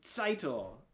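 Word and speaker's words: Tzeitel: to pronounce the name seitel is his criticism mainly being that he often mispronounced or often would not enunciate the t at the beginning of the name all that much which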